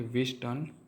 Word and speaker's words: Wheatstone: We discuss about विस्टन bridge. पहले तो हम विस्टन ब्रिज के जो नेम है उसके प्रोनाउंस के क्लेरिटी कर देते हैं। यह विस्टन ब्रिज का प्रोनाउंस है विस्टन। यहां टी साइलेंट है।